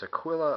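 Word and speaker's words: Aquila: mean Eagle something like that uh but it's Aquilla aquill is how you pronounce it um I've heard some interesting pronunciations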